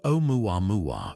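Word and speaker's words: Oumuamua: Its name, pronounced omua mua, fittingly means scout in Hawaiian.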